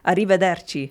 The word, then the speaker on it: arrivederci: Arrivederci.